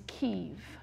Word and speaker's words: Kyiv: Similarly, the capital, the Russian pronunciation is Kiev, as in chicken Kiev. The Ukrainian pronunciation is Kyiv.